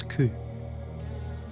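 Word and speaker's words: 九: 4 can be pronounced as shi and 9 as ku.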